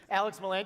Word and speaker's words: Alex Miland: aixr my name is Alex Miland that's how you pronounce that by the way Alex Miland you might know me